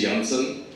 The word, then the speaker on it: Janssen: Janssen. We've been pronouncing it wrong. J should be pronounced as Y in Europe.